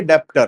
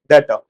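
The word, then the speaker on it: debtor: B silent है, डेटर बोला जाता है। क्या बोलते हैं? डेटर, ठीक है। डेप्टर नहीं बोलना किसी ने भी, डेटर बोलना है, ठीक है।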